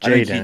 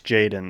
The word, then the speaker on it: Jaden: Jayen. It's Jaden though.